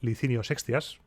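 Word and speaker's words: Licinio Sextias: estas leyes las leyes licinio sexas pronuncio la c así porque las digo en castellano no se quedaban aquí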